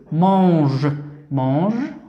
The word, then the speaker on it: mange: ماذا ننطق هذا الصوت؟ إي. إذا إي. ام مع أن مون. جي مع أ جو mange هو فعل يأكل mange comme un.